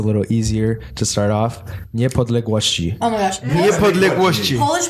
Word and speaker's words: Niepodległości: Niepodległości. Oh my gosh. Niepodległości. Polish words are so Aaron long. got it right. Wait, say it Nie again. palegoci? Niepodległości. Niepodległości.